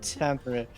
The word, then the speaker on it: Kantamir: Kantamir. Not can't. Thieves can't.